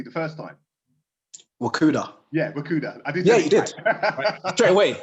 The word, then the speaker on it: Wakuda: fundamentals of rakuda okay fantastic so did i pronounce it correctly the first time wakuda yeah you did straight away yeah yeah we've